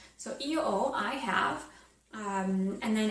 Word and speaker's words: ho: okay so I have you'd say EO oh so EO it's actually spelled with an H so it'd be EO and then h o